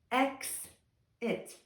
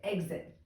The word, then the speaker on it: exit: representing the sound um they're going to probably pronounce it like xit xit and then I'm going to kind of